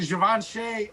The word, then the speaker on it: Givenchy: Pronounce it Givenchy right.